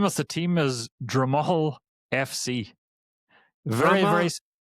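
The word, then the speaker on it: Drumoghill: The name of the team is Dramal FC. Very very very small team. I'll spell it.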